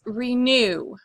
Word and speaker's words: renew: Your next word is renew. Renew. Renew. This is how it is spelled. Renew. Circle the prefix, divide between the prefix and the root. The accent is on the root word.